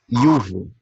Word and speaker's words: iuvo: E o J se pronuncia como I. Iuvo.